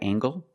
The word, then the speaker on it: angle: Is this a right angle? That's right. This is a right angle. Use the nasal m plus the hard gangle.